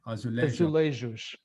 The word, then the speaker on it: Azulejo: These are the Azulejo. Is that correct pronunciation, or is it a soft J? Azulejos.